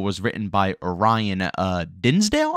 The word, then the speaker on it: Dinsdale: written by Orion uh Dinsdale I believe is how you pronounce his last name but there's tons of